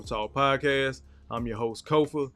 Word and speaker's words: Kofa: podcast I'm your host Kofa k-o-f-a not coffee not Khufu not Kofi or any variation thereof Kofa rhymes with sofa it's phonetic it's only